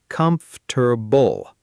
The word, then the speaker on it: comfortable: A lot of learners say all 4 syllables clearly, comfortable. But native speakers actually compress it into 3 sounds, comfortable.